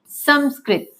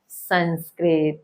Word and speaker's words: संस्कृत: क्या बनता है संस्कृत इसलिए इसका सही उच्चारण क्या है संस्कृत ना कि संस्कृत तो आज से हम